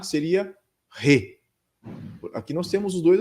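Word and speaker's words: 礼: saudações novamente né o re né utilizem sempre os termos corretos e a pronúncia também né não é rei né Rei re né na língua japonesa quando a palavra começa com R no caso aqui é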